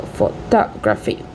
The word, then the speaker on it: photography: We have photography. We have the phonetic composition, a stress pattern. The primary stress is on the second syllable, indicated also by this little symbol before the. So photography. We have geography.